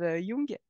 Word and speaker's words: Jung: dérives à partir de Jung, pardon, je vais le prononcer à l'allemande comme il faut et pas l'américaine parce que c'est pas du tout le même gars. Donc Carl Gustav Jung, qui était voilà, qui